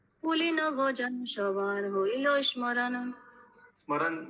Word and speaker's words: স্মরণ: স্মরণ বলতে বেঙ্গলিতে স্মরণ বলে, স্মরণ। स्मरण। एम इज साइलेंट ना, ऐसे कुछ है ना बंगाली में। हिंदी में प्रभु जी स्मरण ही बोलते हैं। हाँ, বেঙ্গলি में স্মরণ স্মরণ হয়ে যায়।